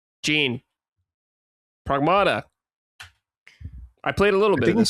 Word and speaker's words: Pragmata: I think it's actually pronounced pragmata. Is it pragmata? Pragmata. But but don't don't worry because I I I say pragmata like all the time too. It's near near automata, right?